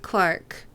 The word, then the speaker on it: clerk: pronunciation of clerk yep we pronounce it like there's an e in it the Adventures of Lois and clerk it was interesting when I first heard someone say Clark for clerk um I thought it